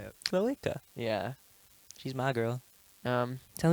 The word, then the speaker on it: cloaca: It's not check. It just is cloaca. Let's put up on the screen how to say Cloaca. cloaca. It sounds like you're saying an Australian woman's name when you say it.